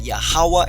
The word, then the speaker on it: Yahweh: In the Paleo Hebrew, pronounced exactly as I said, Yahweh and Yahawashi.